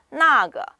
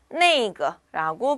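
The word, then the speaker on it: 那个: 그래서 나거 혹은 네이거라고 발음하시면 되시겠습니다.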